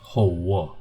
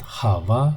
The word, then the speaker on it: hawa: So this v makes the a before and a after rounded, and it's not only a, it's every vowel when comes before or after a. So not Hawa but Hawa.